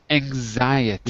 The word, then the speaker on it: anxiety: Anxiety. One in six. Anxiety. Anxiety, like zebra. Okay, anxiety. Good, that's it.